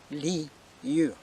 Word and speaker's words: Lyur: Commander Lyur. I gave you the proper spelling for Lyur. It's Li, like in generally, and Ur. Try to pronounce this way. Ur, Lyur.